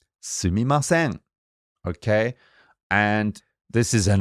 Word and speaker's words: すみません: How do you pronounce that, Ami sensei? すみません. Sumimasen.